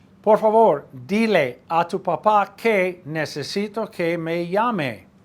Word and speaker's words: papá: Dile a tu papá. Accent on the last A of papá. Otherwise you have a potato.